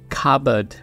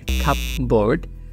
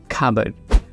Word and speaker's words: cupboard: রাখার জন্য যে আলমারি থাকে তাকে বলা হয় খাবড, খাবড, সি ইউ পি বি ও এ আ ডি, খাবড। ভুল করে আমরা অনেক সময় উচ্চারণ করি খাপবোর্ড, বাট এর সঠিক উচ্চারণ হচ্ছে খাবড, খাবড।